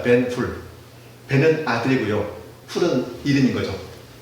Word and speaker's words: 벤허: 벤허, 이건 영어식 발음이고요. 히브리식으로 하면요, 벤훌입니다. 벤훌.